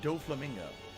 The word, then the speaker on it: Doflamingo: huh doe Flamingo it's pronounced doflamingo what's this giant statue